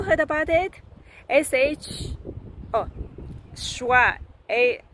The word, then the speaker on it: schwa: never knew the terms before such as the schwa sand I had never heard about it before